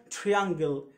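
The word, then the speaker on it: triangle: ت زي تراي تراي حاول تراي اسمها تراي زي كلمه ترين قطار ترين ترين ترين مش ترين ترين هنا تريانجل تريانجل ترا مقطع هنا تراجل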